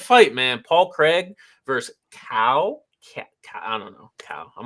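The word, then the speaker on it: Caio: I think it's Chow, because I know Chow is spelled that way. It's not Chow. Yeah, I know Chow is spelled exactly like that. That's Italian. I was like, no, it's not. That's Italian. It's definitely like cow.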